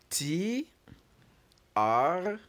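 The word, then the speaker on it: treize: o u z e do brilliant and TR is spelled t r e i z e TR 4 which is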